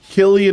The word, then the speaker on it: Cillian: I thought it was Killian. Is it Cillian? Cillian Murphy. Hey Siri, how do you pronounce Cillian Murphy's name? It is with a hard C.